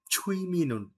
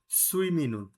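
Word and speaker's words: 취미는: কোরিয়ানে হয় আচ্ছা আচ্ছা যে ছুইমিনুন নট সুইমিনুন ছুই হবে না হবে ছুঁই আচ্ছা ইচ্ছা এই যে চ ছ আছে এটার মত উচ্চারণ যে ছুইমিনুন ইহেং অথবা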